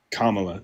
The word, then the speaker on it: Kamala: Pronounce my name. No, not your name. Kamala or Kam Kamala. Kamala.